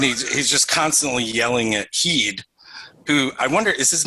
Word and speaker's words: Heed: And he's just constantly yelling at Heed, who I wonder, is his name actually Heed or is it Head?